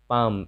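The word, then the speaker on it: palm: एल के बाद अगर ये सब रहे तो एल का उच्चारण नहीं होता है, जैसे शुड, एल के बाद डी है। पाम, एल के बाद एम है।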